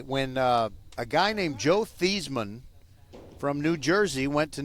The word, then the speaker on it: Theismann: Your name is now pronounced Thiesmann." So, that's how you call Joe Theismann, Joe Thiesmann.